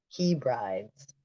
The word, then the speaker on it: Hebrides: islands of the Outer Hebrides. Hebrides. It's spelled like he brides.